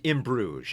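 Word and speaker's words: In Bruges: In Brouges, I don't know that one. Am I even saying that right? I don't know. It's pronounced in Bruge.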